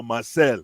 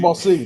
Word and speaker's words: Marseille: First of all, you don't even have Champions League, and second of all, Marcel. How do you pronounce the team? Marseille.